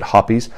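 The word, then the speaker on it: Hoppe's: nine gun cleaner at least I call it pronounce it hoppies and the hoppies number n lubricating oil some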